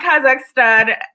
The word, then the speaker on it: Kazakhstan: Did I say it right? So you got Kazakhstan. You got it correct, yes.